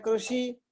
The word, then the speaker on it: कृषि: कृषि, तो कृषि, कई लोग ऐसे बोलते हैं कृषि, कोई बोलते हैं कृषि, लेकिन सही प्रोनाउंसिएशन क्या है? कृषि, कृषि। रू नहीं है।